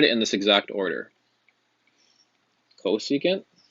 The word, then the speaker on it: cosecant: The first one is cosecant. So you're going to write CSC. That is the reciprocal of sine. And again, that's pronounced cosecant.